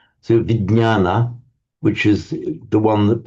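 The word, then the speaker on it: विज्ञान: Um V in Sanskrit would be vana this is pronounced as a vign sound in Sanskrit. So vignana which is the one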